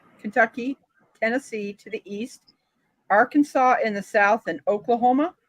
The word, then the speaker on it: Arkansas: for me is that Arkansas is I mean it's the same so it's the same nearly the same spelling as Kansas it is you pronounce it totally different it's like so I